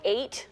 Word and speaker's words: Eight: can use a an insecticide called eight that's spelled like the